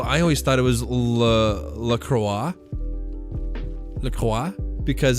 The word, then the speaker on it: LaCroix: they say in australia la croix enjoy c on la croix no but it's pronounced lacroix to remind you of the word enjoy it's not even like